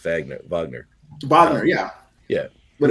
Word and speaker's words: Wagner: the world and you KN about like certain pronunciation and enunciations I was like can you please say Vagner not Wagner well I mean the the very famous Russian or German composers this pronounced Vagner Vagner Vagner yeah yeah would it be somewhat